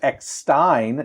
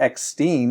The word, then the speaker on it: Eckstein: Ashley, I learned, pronounced Eckstein, not Eckstein, as many people have said for years.